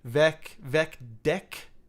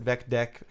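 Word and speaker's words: VecDeque: Vec deck, which I pronounce it Vec deck. It sort of stands for Vec double-ended Q, right? Q-U-E-U-E in this case.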